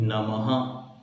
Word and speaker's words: नमः: ठीक है, जैसे हम बोलते हैं नमः, तो ना मा और 2 बिंदी, तो हा की तरह उसका उच्चारण होता है।